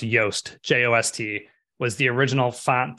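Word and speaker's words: Jost: time uh Frost initially launched I believe it's pronounced yoast j-o-s-t was the original font that Frost launched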